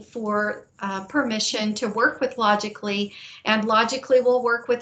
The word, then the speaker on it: Logically: And as a result of that meeting, we met with a company called Logically, which I think you pronounced logistically, but logistically it's logically.